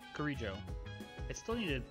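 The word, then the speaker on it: Kirijo: Mitsuru Kuriju. Kurijo. I still need to pronounce her name right more often.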